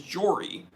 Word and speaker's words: Jory: Like, the way you say my name is Jory, but if you want to abbreviate it, you can say Jor.